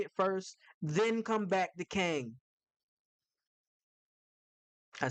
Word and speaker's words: Kang: So you admit that's the right pronunciation. Yes, Kang the conqueror is the right pronunciation. However, Kong, it's what's mostly been said around everywhere, the